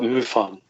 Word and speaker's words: MUFON: Did I pronounce that correctly? Oh, that's right, MUFON.